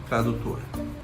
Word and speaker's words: Tradutor: Google Tradutor. Google Tradutor. Google Tradutor, okay? If you Yeah. wanna speak like me with my R, Google Tradutor, okay?